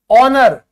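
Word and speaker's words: honour: ठीक है, ध्यान से देखो, सम्मान की बात है, ऑनर, तो एच के बाद वावल है, एच साइलेंट हो गया।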